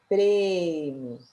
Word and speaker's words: prêmio: época enquanto na palavra prêmio o som é fechado agora na letra B